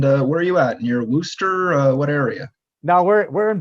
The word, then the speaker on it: Worcester: Near Worcester? What area? No, we're in Boston, and it's Worcester, Okay. by the way, not Worcester.